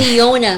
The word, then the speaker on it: Giona: Giona. Giona. Kaya pala mo Jonah. Kaya Giona.